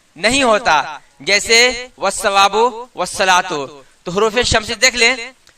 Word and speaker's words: والصلاۃ: کو پڑھتے ہیں والثواب۔ اسی طرح والصلاۃ آپ دیکھیں کہ لکھا ہوا ہے والصلاۃ لیکن پڑھتے ہیں والصلاۃ۔ معلوم کیا ہوا کہ